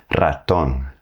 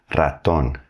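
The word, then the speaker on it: ratón: When the R is at the beginning of the word, you're going to have to hit that trill. Raton. Raton. That's for mouse.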